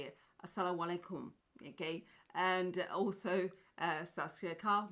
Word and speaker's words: assalamu alaikum: then I know cuz I used to say asalaam alaikum but it's not actually that's not how you say it assalamu alaikum okay and also Sasuke carved marhaban medibot welcome